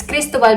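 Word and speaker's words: Cristóbal: So it's Cristobal because it has an accent on the letter O.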